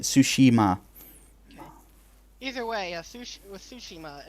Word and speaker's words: Tsushima: Is it Tsushima or Tsushima? Tsushima. Tsushima. Yeah. Well, anyway, I looked it up. That's how you say it. Tsushima.